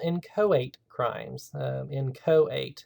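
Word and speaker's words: inchoate: called in coate crimes in coate is how this is pronounced so um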